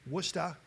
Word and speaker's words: Worcester: be attending Clark University and I'm going to pronounce it correctly worcesta Massachusetts is that correct Jay what's that maybe